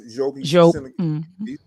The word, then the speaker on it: Diop: We can talk about Sheikh Anta Diop, which we're pronouncing Diop, but it's correctly pronounced Diop.